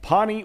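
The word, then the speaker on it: Pahhni: Visit their website at Pawnee. It's spelled P-A-H-H-N-I.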